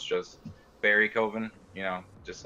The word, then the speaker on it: Bierekoven: And then, but if you want to be fancy and feel like it, you can say it the German way, which is Bierekoven.